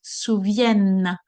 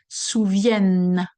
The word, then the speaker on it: souviennent: You see, my tongue is between my teeth, souviennent. All right? It's not the E, the N, and the T are not pronounced here because we are in the conjugation word.